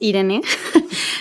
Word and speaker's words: Irene: So my name is actually pronounced Irene. It's a Spanish name.